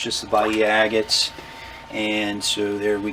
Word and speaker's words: Bahia: get that to focus, Bahia agates. I don't know if I'm saying that correctly. In Spanish, the H is silent. It's B-A-H-I-A, so it would be